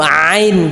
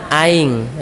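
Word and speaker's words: عين: Q 1 2 t ini huruf Ain Pak ya jadi jangan aing ini bukan huruf Sunda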